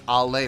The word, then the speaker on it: Ale: bass player is ale a lot of people were trying to help me with pronouncing her name correctly and it's i'll lay from what i understand i'm not making fun